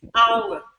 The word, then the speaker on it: hour: have to know that there are certain words in which that sound is not pronounced but you want the letter H there an example of that word is the word power power don't say what do you see hour you see love the hair because the sound is not articulated it's not pronounced in that word there are a few